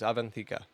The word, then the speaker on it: Avantika: Her name, if I remember how to pronounce it. Let's remember how to... It's like... oh, gosh. Avantika. There it is, Avantika.